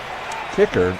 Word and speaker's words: Kiecker: Kiecker is the proper pronunciation.